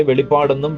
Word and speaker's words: വെളിപാട്: ഒരു പുസ്തകം രണ്ടു പുസ്തകങ്ങളാണിത് പലപ്പോഴും പലരും ഇതിനെ വെളിപാടെന്നും വെളിപാട്എന്നും വിളിക്കാറുണ്ട് യഥാർത്ഥമായ ഉച്ചാരണം വെളിപാട് എന്നാണ് വെളിപാട് പുസ്തകം എഴുതിയത് കർത്താവിന്റെ അപ്പോസ്തലനായിരിക്കുന്ന